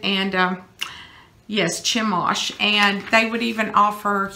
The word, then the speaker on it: Chemosh: I think his name was Chemosh, is how you pronounce it. And yes, Chemosh.